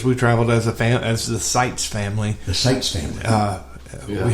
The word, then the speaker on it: Sitze: And it's spelled SITZE. TZE. Okay. Yeah. Sites family. And so, and the last record was called Sights and Sounds. Yeah. Which I thought was clever. Yeah. Well, that was our introduction to our last name. Yeah. But not spelled the same way. Right. But pronounced.